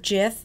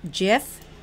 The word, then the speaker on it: GIF: The word GIF is spelled G-I-F, but it is pronounced like J-I-F, GIF. But the G stands for graphic interchange format, so you will hear people pronouncing it as GIF or GIF.